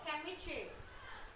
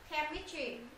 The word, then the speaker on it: chemistry: gì ch là chem cái chữ ch này các bạn không đọc là ch mà các đ đọc là chemistry chemistry schol này schol cái